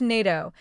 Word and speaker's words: NATO: NATO, pronounced NATO, stands for North Atlantic Treaty Organization.